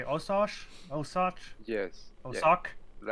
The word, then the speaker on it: Osoch: Osoch?